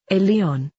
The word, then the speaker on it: Elyon: Also, the name in Hebrew for the Most High God is called Elyon and is pronounced Elion. Phonetically it is almost exactly like alien, because that is exactly what they are.